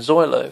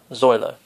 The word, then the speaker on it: xoylo: the meaning of the word zoilo which is spelled x o y l o so just to sum